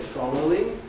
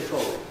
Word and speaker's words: following: Another example I've given here, you can say following, or did they following. And both sound perfectly okay, so you have your